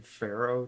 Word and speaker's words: Faro: Can you explain Can you explain the game Pharaoh to me? It's spelled F-A-R-O.